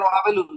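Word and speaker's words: وَابِلٌ: ওয়াবিলুন উচ্চারণ ওয়াবিলুন, রাইট তুমি? ওয়াবিলুন, ওয়াবিলুন। হুম। জবরের পরে খালি আলিফ থাকলে এক আলিফটা। আচ্ছা আচ্ছা, না যে আমি ওই একটু কনফিউজ হয়ে গেছিলাম পড়ার সময় আজকে।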